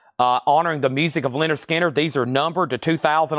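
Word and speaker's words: Lynyrd Skynyrd: Also in here, uh, speaking of Leonard Skard, Artemis Pile, uh, honoring the music of Linder Skinner.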